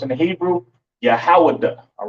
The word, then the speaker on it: Yahweh: And it's pronounced Yahweh.